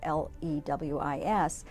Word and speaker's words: Lewis: His uncle spelled his name Lewis, and he was, I think, actually named for his uncle kind of indirectly, but his name is pronounced Louis. It's Louis Brandeis, not Louis Brandeis.